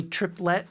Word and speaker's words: triplet: I am a Bostonian, To me, triplet has 2 syllables. Forcing a 3rd syllable in there, triplet, feels very foreign, okay?